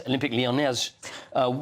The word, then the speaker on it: Olympique Lyonnais: And it rhymes with mayonnaise. It does rhyme with mayonnaise also. So I like the sound of both those things. Yes, Olympique Lyonnais.